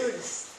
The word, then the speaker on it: Lourdes: which say Luludo, I don't know how you spell it. L-O-L-O-U-R-D-E. Oh. Acid. Yes. Yes. Luludo. Okay. Lourdes.